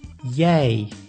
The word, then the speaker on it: jij: I plus J is also pronounced as ei, like in the word jij, which means you.